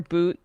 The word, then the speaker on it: Bout: was imprisoned um Victor boot is his name spelled like bow but it's pronounced like boot um arms dealer not